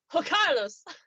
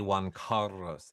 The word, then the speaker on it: Juan Carlos: crown debate then just let me pronounce his name not that you're like ho carlos it would be juan carlos he probably would appreciate if i could roll my r car i can't carrots